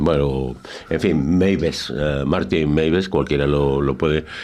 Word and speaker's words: Meiwes: prometer a Martin Meiwes, creo que la W se pronuncia V en alemán, bueno, en fin, Meiwes, Martin Meiwes, cualquiera lo